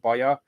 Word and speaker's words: Baja: my mom's hometown of baya which is pronounced like baja or spelled like baja and it's actually in the south of hungary too so it's kind of funny but um boya is where the two